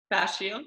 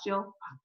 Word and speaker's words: fascial: Okay, yeah, so from the facial, if I pronounce that right, I always say facial, that's wrong. What's it? Fascial. Fascial.